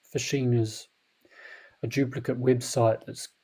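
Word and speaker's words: phishing: you're getting fished it's you know pronounced p-h-i-s fishing is a duplicate website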